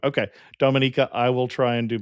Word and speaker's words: Dominica: Today Amateur Traveler talks about waterfalls and snorkeling, whales and turtles, hot springs and canyoning as we go to Dominica.